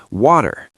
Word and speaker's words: water: any American really, will look at that T sitting between the A and the E and our brains instantly convert it to a D to save physical energy in the mouth. We say water.